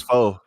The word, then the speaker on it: pho: It's pho. No, it's pho. Pho. Yeah. It's pronounced pho.